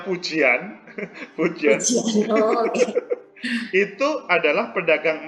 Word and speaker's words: Fujian: Fujian itu ya namanya. Kalau kita membacanya Fujian.